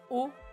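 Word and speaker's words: を: ce fameux hiragana W quand c'est la particule il se prononce plutôt o on va pas trop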